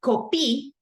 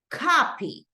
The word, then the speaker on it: copy: So right here, I know that instead of saying copy, I say copy, right? The stress goes in this first part.